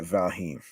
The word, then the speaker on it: Valheim: running beard growing simulator all the best people pronounce it yeah valheim yeah number 23 um death stranding director's cut